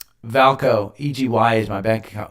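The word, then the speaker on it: VAALCO: uh egy is Valco how do you say it when it's got two A's um valko egy is my bank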